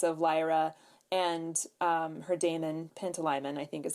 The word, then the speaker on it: Pantalaimon: And I think you will see shades of Lyra and her daemon, Pantalaimon, I think is how you pronounce his name, in Quicksilver and Fox.